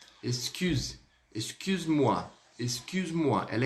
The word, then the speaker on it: Excuse-moi: Ou seja, a letra U, ela é pronunciada como? Com um leve biquinho.